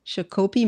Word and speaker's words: Shakopee: is Timothy Miller hanging out from Chicago Burbs, and then Tom Schaff from Shakopee. Am I pronouncing that correctly, Tom? Shakopee, Minnesota.